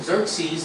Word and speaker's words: Xerxes: morai might have been her uncle uh King Xerxes that's how you pronounce it is the ruler of Persia hmon